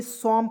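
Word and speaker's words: some: ठीक है यहां देखिए एस ओ ए इ समम पढ़ते हैं सम सम यहां पे ओको साइलेंट इको साइलेंट ए से स एम से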